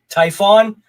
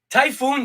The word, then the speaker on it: Typhon: pick the typhoon but you pronounce it Typhon yeah yeah I guess typhoon sounds better though I know Saipan typhoon it looks like typhoon no I blame public